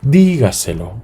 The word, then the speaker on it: dígaselo: recibe Esa esa sílaba dígaselo sí es gaselo sí dígaselo ocupa el cuarto lugar sí según lo que